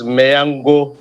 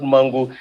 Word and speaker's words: Mangu: local government called mangu so your pronunciation is mayango not mango so that i will